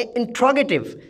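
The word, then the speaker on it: interrogative: इंट्रोगेटिव, इंट्रोगेटिव, मैं दोबारा इसको दोहरा रहा हूँ, इंट्रोगेटिव, इंट्रोगेटिव।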